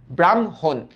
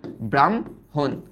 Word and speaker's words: ব্রাহ্মণ: বাট এটা লিখিত রূপ। উচ্চারিত রূপের বেলায় আগে ম এর উচ্চারণটা করে ফেলি আমরা। তারপর হ আসে। তার মানে এটার উচ্চারিত রূপ হবে ব্রাহ্মণ। এটা না। ব্রামহন। তাহলে উচ্চারিত রূপটা আসতেছে ব্রাম। এই লেখ ব্রাম। তারপরে হচ্ছে হন।